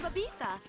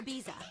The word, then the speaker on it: Ibiza: From diamond-encrusted glory holes to the proper pronunciation of Ibiza, or Ibiza.